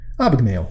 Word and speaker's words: Abagnale: on a bun Abagnale I never remember how to pronounce this name of this the name of this icebreaker correctly Abagnale that's it and I've seen the